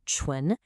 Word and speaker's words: 唇: It's pronounced chu and it simply means the lips.